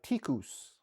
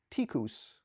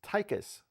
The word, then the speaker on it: TIKUS: One quick comment, the Malay and Indonesian word for mouse is actually pronounced tikus, and it's spelled like it's pronounced tycus, which is the name of this device.